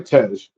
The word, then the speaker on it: Tej: Um, how do you pronounce the dude's name? Tej? Ludicrous Tej. Yeah, yeah, Tej.